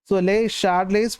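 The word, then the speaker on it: Le Chatelier: നിയമമാണ് ലേ ഷാഡലേ പ്രിൻസിപ്പിൾ ഇതിന chart layer എന്നൊന്നും പറയത്തില്ല ഈസിഎച്എ ഷ എന്നൊരു ഉച്ചാരണമാണ് കൊടുക്കുന്നത് എന്നാണ് പറയുന്നത് ലേ ഷാഡലേസ് പ്രിൻസിപ്പിൾ എന്നാണ് സാധാരണ ടീച്ചേഴ്സ്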